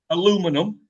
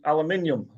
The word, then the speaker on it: aluminium: Repronounce that? Yeah, you say aluminum. Yes? Yes, sir. Well, we, us here in little old England, we say aluminium.